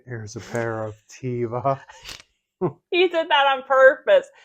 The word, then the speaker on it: Teva: They went on to Threads and said that we were pronouncing it wrong, not us personally, most of America in general, and it's Teva.